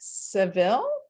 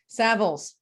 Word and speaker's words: Savills: Marcus has served as a corporate managing director at Savills. I said it wrong. Savills.